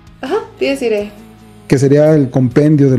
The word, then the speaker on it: Dies Irae: El año pasado pudimos conocer, y si no, corrígeme mi pronunciación, es Dies Irae. Ajá, Dies Irae.